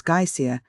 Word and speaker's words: geyser: The geyser, a word the Icelanders pronounce geer, and which signifies fury, rose majestically from its summit.